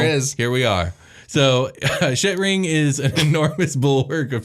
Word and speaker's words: Shetring: It's spelt Shet. Shet is an E and not I, ring. And it's all one word, Shetring.